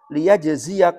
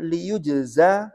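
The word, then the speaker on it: لِيُجْزَى: Imam Abu Ja'far itu membaca dengan bukan dibaca dengan liyajziya qauman, tapi dibaca dengan liyujza qauman. Bibina yujza lil maf'ul.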